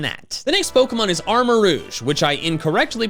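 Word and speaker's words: Armarouge: the next pokemon is armor rouge which i incorrectly pronounced armor rogue in my reaction rouge is french for red so its name is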